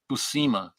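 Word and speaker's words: Buscema: tell you emphatically that his name is pronounced Busa because he's working are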